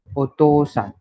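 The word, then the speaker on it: お父さん: पर ओतोसान को ओतो ऐसे प्रोनाउंस करते हैं, पर लिखते समय वो ओतोउसान ऐसे लिखते हैं.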